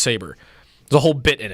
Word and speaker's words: Sabre: called Saber that they they think it's called Sabre for a full episode and then they realize that it's pronounced Saber.